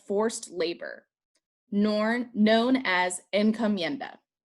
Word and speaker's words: encomienda: labor norn known as encomienda en comienda is spelled e-n-c-o m-i-e-n-d-a and encomienda is a